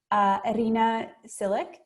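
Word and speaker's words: Iryna Tsilyk: I want to take a moment to welcome our special guest, Irina Silic.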